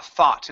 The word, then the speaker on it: thought: A thought. Instead of th thought, it's an a thought.